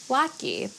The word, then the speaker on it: latke: I'll address the elephant in the room, which is to say that I pronounce it lucky.